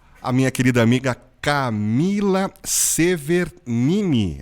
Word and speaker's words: Severgnini: satisfação de entrevistar a minha querida amiga Camila Severnini. É isso mesmo? Eu falei direitinho ou será que eu errei a pronúncia, hein, Camila? Certinho, Falei Hélio. certinho? Severnini.